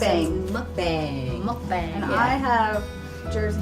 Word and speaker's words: mukbang: Yes, this is actually a, how do you pronounce it? Mukbang.